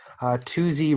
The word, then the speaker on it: Toozy: by a guy named Toozy Rogers. So Tooze, but I think he pronounced it Toozy because he was very good